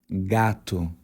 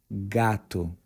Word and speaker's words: gato: pronounce the Brazilian Portuguese word Gat the correct pronunciation is gat once again gatu but for female cats it would be Gata